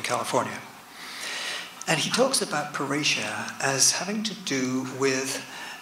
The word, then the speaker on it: parrhesia: And she Charlène Biondi, suggested to me that really a good term for what Snowden does is parrhesia. Now parrhesia, I'm speaking Greek.